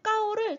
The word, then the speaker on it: 高: 네, 높고 높다라는 표현을 이 뒷부분에 있는 까오를 조금 더 강하게 읽어주면 조금 더 맛깔나게 네, 소리를 내실 수가 있습니다.